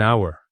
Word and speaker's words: hour: And it's an hour, not a hour. Because even though hour starts with H, the H is completely silent.